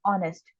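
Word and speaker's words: honest: अच्छा, ये स्पेलिंग जो है ऑनेस्ट की, इसमें एच हमारा साइलेंट होता है। हम स्टार्ट इसको ओ से करते हैं, ऑनेस्ट।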